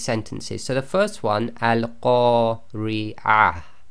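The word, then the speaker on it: القارعة: Now, the way you've got to pronounce this is because that ta marbuta is at the end of the sentence, we will pronounce that as if it's a ha and it's sakin.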